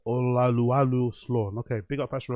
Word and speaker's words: Olaolu: The correct pronunciation is Oluwalu. Oh wow, I didn't even know that. It's O. So that O is like an R. It's Oluwalu Slawn.